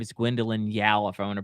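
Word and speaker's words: Gwendoline Yeo: the way uh I think her name is Gwendolyn Yao if I want to pronounce pronounce her name correctly she plays Nala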